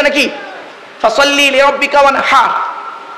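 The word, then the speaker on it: وانحر: ফাসাল্লি লিরাব্বিকা ওয়ানহার। কি বললাম? ফাসাল্লি লিরাব্বিকা ওয়ানহার। উচ্চারণটা ঠিক রাখুন, ওয়ানহার, ওয়ানহার নয়, ওয়ানহার। এই গলার ভেতর থেকে হে এটা উচ্চারণ করবেন।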